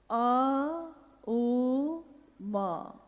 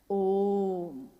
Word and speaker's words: ओम: दी जो प्रकट हुई उस ध्वनि की आवाज थी अ उ म अगर एक साथ सुना जाए उसको तो उसकी आवाज गूंजती हुई ऐसी है जैसे हम बोलते हैं या उच्चारण करते हैं तो हम कहते हैं ओम है वह अ उ